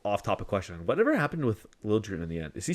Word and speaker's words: Liljegren: And they do call him Liljegren in San Jose. He wanted it requested changed. to have the J pronounced.